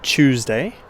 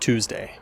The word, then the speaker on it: Tuesday: So for example, the word Tuesday in my accent sounds more like Tuesday, whereas in an American pronunciation, it might be more like Tuesday or Tuesday.